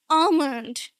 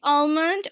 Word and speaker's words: almond: So, in RP, we say almond without an L. And in American English, you can go on say almond.